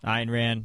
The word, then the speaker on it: Ayn Rand: Ayn Rand. Right. Yeah, I always pronounce it Ann because I don't really care.